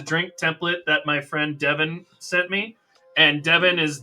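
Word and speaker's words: Dydyn: You can throw in any vowels in his name, and it sounds the same if it's an A or an O or an I. It's Devin.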